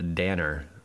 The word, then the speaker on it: Danner: Elena Danner. Rhymes with Tanner.